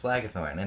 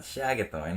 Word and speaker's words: Slagathor: then someone mispronounce it it's slagathor not Shagga thawing and just think what